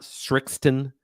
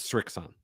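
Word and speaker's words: Srixon: There's no T in there. It's not Strixon. It's not Strixton. It's Strixon.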